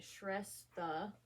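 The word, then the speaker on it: Srestha: So part 1, Shrestha, when a dream comes true, but not for the dreamer. So it shows how to pronounce it, Shrestha.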